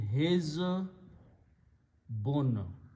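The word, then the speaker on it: حِزْبٌ: We make the noun from that by combining this and pronouncing his bun. The meaning of this word hizbun is a group, usually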